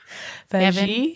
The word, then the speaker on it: Beijing: of how do you say it again beige Beijing yes the Kevin um and if you depending